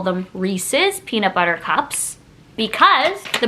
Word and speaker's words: Reese's: If you change this word to Reese's, no, it just has an S on the end. Reese's. Do you know anyone whose name is spelled like this and you call them Reese? You wouldn't just be like, oh, me and Reese.